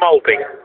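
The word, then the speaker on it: Mølby: Well, but, he used to say, well, if I was in Denmark, it's Molbu, and he just said, I'm Molby.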